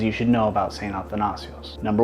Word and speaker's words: Athanasios: In English, the word is pronounced Athanasios. My friends asked me why I went with Athanasios instead of Athanasius.